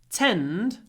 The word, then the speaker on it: tend: But if the word was tend, then instead of a pause, I would have that. So, tent before unvoiced t, tend before a voiced d. Tent, tend, tent, tend.